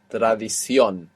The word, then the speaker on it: tradición: That last O will have a written accent on the end, showing you that you're stressing it. Tradición.